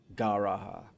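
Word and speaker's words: G'raha: Gara would actually be how you say it.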